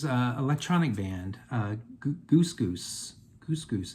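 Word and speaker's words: GusGus: electronic band uh gogus Goose goose is how it's pronounced I always thought it was Gus Gus but it's pronounced Goose goose and they're out of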